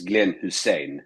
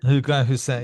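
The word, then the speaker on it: Glenn Hysén: I was I've always been calling him Glenn Heisen, but I guess Yeah. In Sweden, yeah, you can say Glenn Heisen. In Sweden, it's Glenn Hussein. Glenn Hussein.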